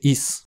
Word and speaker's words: ist: Z être au présent la trème personne du singulier est souvent prononcé is je sais pas ce